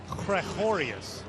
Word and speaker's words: Gregorius: day go for it I believe he said krakorius nice that's how they